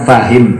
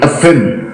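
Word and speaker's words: فاهم: Tapi dalam amiyah bacanya FM. Mestinya fa maktoknya menjadi mati FM.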